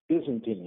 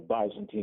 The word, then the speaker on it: Byzantine: It says 1453 Byzantine, or Byzantine if you pronounce it that way.